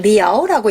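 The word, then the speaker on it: 寮: 그래서 샤지 요것을 이제 고르는 그런 문제였고 또 하나 B가 이게 여러분한테는 자 말고 뒤에 글자가 좀 어려울 수 있는데 이건 리아오라고 읽고요.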